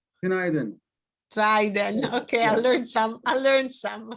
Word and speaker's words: Günaydın: Günaydın. Günaydın.